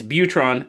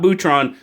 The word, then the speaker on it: Butron: ohlone knives butron now peter swears to me a therapeutic edge it's butron not boutron some i'm going with butron so i'm hopefully i'm